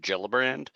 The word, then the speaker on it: Gillibrand: a common pronunciation, but the senator's name is pronounced Gillibrand, not Gill. It's Jill, like Jill, pronounced.